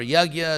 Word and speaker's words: yajna: there is d yagya uh yajna or yagya it's one of those words which has about about 300 pronunciations in India in Bengal West in East India Joo so anyway it